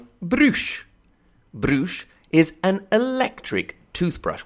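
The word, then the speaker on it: Brüsh: Also, you get to say Brush all the time. It sounds really cool. That's because it's spelled B-R-U with the 2 dots on it, the umlaut U-S-H.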